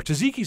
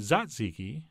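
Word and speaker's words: tzatziki: cold yogurt sauce our taziki sauce would be perfect here although apparently I'm supposed to pronounce it zat ziki but that feels awkward but what doesn't feel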